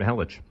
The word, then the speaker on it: Mihelich: Mihelich. Mihelich, right? Mm-hmm. Well, if he pronounces it that way, then well, I don't know.